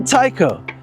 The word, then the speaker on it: Tyko: It's spelled T Y Ko, but it's still Tao.